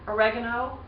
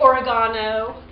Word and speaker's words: oregano: extra virgin olive oil dried oregano or as the british say oregano sea salt or kosher